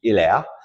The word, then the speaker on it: Hilaire: He was actually born in France in 1870, and the correct French pronunciation of his name would be Hilaire, but the family moved